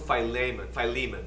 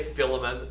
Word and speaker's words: Philemon: The person addressed, and I call him Philemon, that's the Greek pronunciation. People say Philemon, that's fine too. You know, is it Paris or is it Paris? Well, yes, the answer is yes. So if I say Philemon, don't freak out on me. And don't feel you got to use the same name, the same pronunciation.